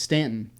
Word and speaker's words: Staunton: down right below harrisonburg and there's a town that's spelled s-t-a-u-n-t-o-n staunton it's stanton and the reason why they called stanton it